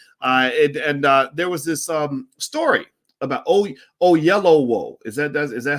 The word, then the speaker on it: Oyelowo: It's spelled OYELOWO. That sounds like oh-YEL-oh-woh, oh-YEL-oh-woh, oh-YEL-oh-woh, oh-YEL-oh-woh, oh-YEL-oh-woh.